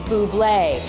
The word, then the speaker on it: Bublé: his album, and they just kept saying, it's Bublé, because they really, people had no idea how to pronounce his name, they didn't know who he